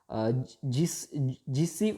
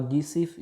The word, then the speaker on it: Giuseppe: Okay, Giuseppe or Giuseppe you can call or you can pronounce it.